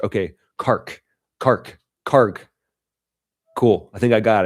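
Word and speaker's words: Kharg: Uh pronounce Kark. Uh the end letter is like a book, not ch in church. Okay, Kark. Kark. Karg.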